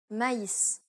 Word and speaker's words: maïs: The diaereses signifies that one should pronounce the vowel separately from the preceding vowel. That is to say that you should not combine the two vowels together. Instead, you should pronounce them in separate syllables.